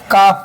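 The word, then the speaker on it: calf: ए एल एफ तो एफ के पहले एल है तो काल एलफ नहीं भरना है बल्कि पढ़ना क्या पढ़ना है? काफ पढ़ना है।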